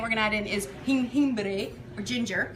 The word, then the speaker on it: jengibre: And then the last ingredient we're gonna add in is jengibre or ginger. Jengibre. Jengibre. Jengibre. Ginger. How do you spell that?